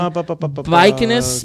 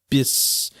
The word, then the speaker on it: Bucyrus: I'm saying Bucynus, Missouri. Bucynus. It's not an N. That's an R. Bucyrus. Oh, it's an R?